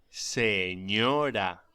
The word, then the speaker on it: señora: La ñ se pronuncia como gn en francés o ni en inglés, como por ejemplo onion. Pronúnciese señor y señora.